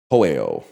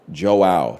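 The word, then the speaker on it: João: You say it like Joe. Okay, I was going to say Hoeo. So Joe is Joao. Joao.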